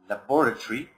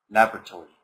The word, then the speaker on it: laboratory: that the man pronounced laboratory laboratory right or Laboratories so on so there are two pronunciations for the lab okay the first one is the British laboratory I'm just going to